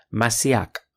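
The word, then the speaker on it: משיח: Daniel 9 en hebreo la palabra es masíac tenga en cuenta el énfasis en la segunda sílaba y se usa mucho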